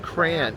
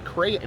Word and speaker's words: crayon: Crayon. There's two syllables. Crayon.